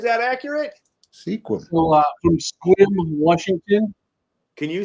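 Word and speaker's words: Sequim: there right is that accurate sequ so from squim Washington can you say it out loud one more time for me squim pronounced okay squim because I'll pronounce it wrong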